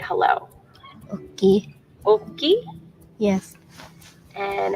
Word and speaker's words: Oki: Oki?